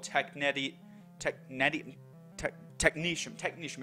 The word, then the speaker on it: Technetium: interesting element at least I think it's called tech neti tech netting technician technician it's pronounced technician apparently it actually comes to the Greek word